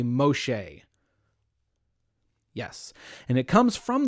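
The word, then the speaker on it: משה: So she adopts this baby, and she names the baby Moses, or Moshe is the Hebrew pronunciation, I think. Everyone say Moshe.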